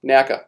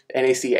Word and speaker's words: NACA: We're still working with, point up, NACA, what's above my head right here, NACA. I keep wanting to say NACA, but that's not how they pronounced it.